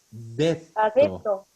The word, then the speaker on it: detto: detto. Adepto. Ha detto, perdón. Ujú. Ha Ojo la detto, doble sí. T. Detto.